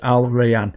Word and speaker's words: Al Rayyan: Now I checked a couple of pronunciations online, found 3, and that's the one I preferred, Al Rayyan.